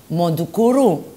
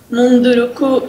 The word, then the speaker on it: Munduruku: make this documentary about Mundukuru? Am I saying it right? Indians in Brazil? Munduruku Indians. Okay.